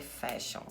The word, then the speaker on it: fashion: Então, não fale em inglês que uma pessoa é fashion. E a pronúncia de fashion também vai ser faixa AN Fashion é moda, é falar sobre moda.